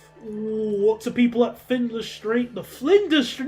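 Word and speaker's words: Flinders: excellente the molto people at findler street the flender not findler flender I keep saying it wrong okay at least we've solved this issue mostly.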